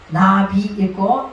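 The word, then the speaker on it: נביא: 그러니까 나비 읽고 뒤에 나오는 알레프는 발음을 안 하는 거예요.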